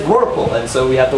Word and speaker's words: rorqual: Well, they said Rorqual, and so we have the word Rorqual. R-O-R for roar. Qua is a Q-U, not a K. And then A-L.